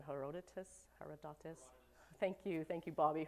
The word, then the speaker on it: Herodotus: greeks how do you say this name herodotus hierodotis thank you thank you bobby herodotus who is the father of modern geography they